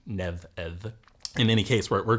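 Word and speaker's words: Nemed: m d so uh those who who haven't uh taken up old Irish would probably pronounce it nemid um but uh uh the the m and d are in fact going to be lenited uh to neev in any case where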